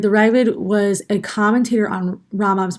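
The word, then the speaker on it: Raavad: hasagot right the the he's kind of pronounced as riven right the raven was a commentator on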